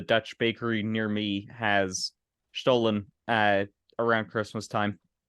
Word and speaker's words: Stollen: Speaking of food, I am so looking forward to when Stollen will be available.